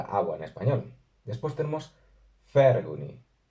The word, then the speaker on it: 𐍆𐌰𐌹𐍂𐌲𐌿𐌽𐌹: la palabra siguiente porque no es una F pronunciada entre los dientes de arriba y el labio inferior, sino que se hace con los labios redondeados.